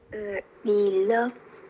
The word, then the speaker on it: beloved: Beloved people. Beloved. For example, for verb, so we have ed after v, so beloved. Beloved. No, loved. However, for adjective, all ed sound should be pronounced it, beloved.